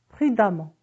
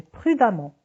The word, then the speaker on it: prudemment: des adverbes rends à mon deuxième pays prudent prudemment innocent innocemment évident évidemment négligent négligemment violent et